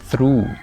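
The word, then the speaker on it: through: जैसे थ्रू थ्रू लफ्ज है। इसमें ये ओ यू जी एच उ की आवाज दे रहा है। उ साउंड को या उफ फोनीम को रिप्रेजेंट कर रहा है।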